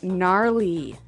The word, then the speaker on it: gnarly: We heard the ski instructor say gnarly. Gnarly run. Yeah, gnarly. So, an interesting word, it's spelled Gnarley. Okay, so, but you don't say gnarly. No, You just- say gnarly.